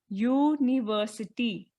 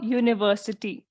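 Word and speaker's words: university: आवाज सुनाई देती है तो यूनिवर्सिटी में हमें क्या आवाज सुनाई दे रही है यूनिवर्सिटी य य की आवाज हमें सुनाई देती है और य एक कंसोनेंट साउंड है इसलिए हम यहां क्या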